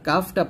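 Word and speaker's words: قاف: আর কাফটা পাতলা উচ্চারণ করব, কাফ।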